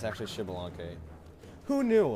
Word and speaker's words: Xbalanque: fact about shibalonke I used to call it expelunke because I didn't know how to pronounce it so I was like it's actually shibalonke who knew like if you didn't know that